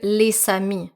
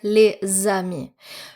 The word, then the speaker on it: les amis: If there's a liaison with the letter S, you're not going to pronounce it S, but rather Z. Z. You don't hear les amis here, you hear les amis.